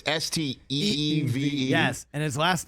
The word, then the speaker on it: Steeve: So it's Steeve. Yes, and his last name is Hoyufat. Hoyufat. Are you sure that's how that's pronounced?